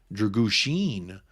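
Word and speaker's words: Drăgușin: It's spelled Dragusin. Dragusin. Oh, like Charlie Sheen.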